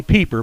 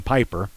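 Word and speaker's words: Pieper: glenn 34 san antonio well i speak german and i know the pronunciation rules it's supposed to be peeper but i hear it by saying piper san antonio peeper piper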